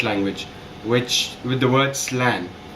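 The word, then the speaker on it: slán: which with the word slang which is actually pronounced as slan s-l-a-w-n and it's actually the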